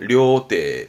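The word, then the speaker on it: 料亭: 발음은 료떼, 음독은 태입니다.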